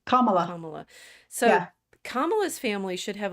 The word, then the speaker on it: Kamala: name which onea C camela it's like P think it's like Pamela Pam comma comma so kamala's family should